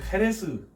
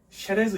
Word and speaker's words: Jerez: JEREZ 혹은 XEREZ 이렇게 쓰는데 이거를 헤레스, 쉐레즈 이렇게 읽어요. 스페인 지역에 따라서 X 또는 J를 이제 쉐 이렇게 많이 읽어요. 그래서 이제 헤레스라고 뭐 쉐레즈 이런 식으로 읽던 게 이제 영국으로 넘어가면서 쉐리라고 발음이 되면서 이 쉐리라는 이름이 나온 거죠.